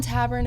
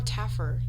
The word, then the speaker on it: Taffer: tavern and i'm like is it tavern or tab i probably tavern yeah probably because he loves bars yeah because john tavern if you're watching this i'm sorry if i got your name wrong but yeah that's some inception right it's john taffer yeah that's a